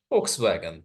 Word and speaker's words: Volkswagen: जो German word है, German में वी को फाउ कहा जाता है और उसका प्रोनाउंसिएशन एफ की तरह किया जाता है, इसलिए उसका नाम है फोक्स वैगन।